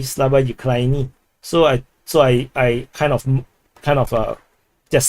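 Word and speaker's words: Слава Україні: Slava Ukraine is actually pronounced Slava Ukraini.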